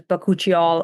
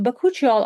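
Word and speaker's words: bakuchiol: Um I usually pronounce it as bakuchial because that's what I heard being Yeah.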